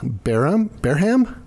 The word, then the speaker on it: Bareham: Our guest today is Olivia Bareham? How do you say it? Olivia Bareham. Okay. And I should be able to pronounce her last name because I actually know